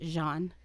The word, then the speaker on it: Jean: Leaf FR spelled g e a an but pronounced Jean oh Jean Jean so he was this 31-year-old